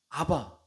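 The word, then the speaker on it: אבא: 아버지라고 부를 때 사용하셨던 단어는 아랍어로 아빠입니다 아바입니다 우리와 발음이 참 유사하고 비슷하죠 아빠 아바 그 발음도 거의 같다라고 볼 수 있는 그런 단어를 사용하셨습니다 아람어로 아빠가 뭐냐면 유대인들이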